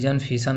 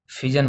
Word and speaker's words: fission: कोई फिशन ऐसे बोलते हैं, तो प्रोनाउंसिएशन डिफरेंट होता है। आप फिजन बोलो, ठीक है।